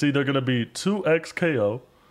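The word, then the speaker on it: 2XKO: more I think I like two times KO I don't I think it's 2x KO it's just weird to say 2x KO but anyways uh the the the final name is uh 2x KO spelled like that um it's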